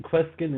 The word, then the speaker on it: Kweskin: And did I get Kweskin right?